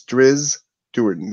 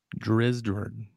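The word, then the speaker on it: Drizzt Do'Urden: It's Driz Duerden. The T is silent. Driz Duerden.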